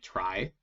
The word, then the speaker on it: trie: couple of slides so tries are pronounced like try even though they're spelled t-r-i-e is the data structure